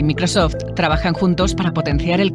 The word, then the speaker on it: Microsoft: repite la conmigo microsoft muchas veces me encontrado con gente que lo dice mal que lo pronuncian tal cual se escribe mi curso microsoft microsoft micros en